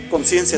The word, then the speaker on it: Conscientia: que es se pronuncia conciencia simplemente que tiene la t porque está en latín pero se pronuncia conciencia no como en español bueno el nombre tiene